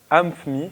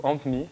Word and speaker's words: AmpMe: Donc c'est une application qui est sortie il n'y a pas si longtemps que ça et qui s'appelle AmpMe ou AmpMe, enfin ça s'écrit A-M-P-M-E.